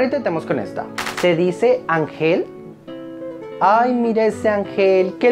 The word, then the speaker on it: ángel: ¿Se dice ángel? Ese es mi ángel de la guarda. ¿Sí? Entonces lleva tilde si no termina en NSO vocal. Ángel termina en L, por tanto, lleva tilde.